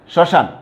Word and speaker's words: শ্মশান: তারপরে শ্মশান, তালবা স্বরের উপরে কিন্তু যথারীতি কি হয়েছে, চন্দ্রবিন্দু আমি ব্যবহার করেছি।